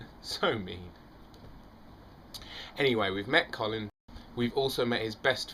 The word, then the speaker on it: Colin: and we know that it's pronounced Colin not as is more popular in America colon um that joke amused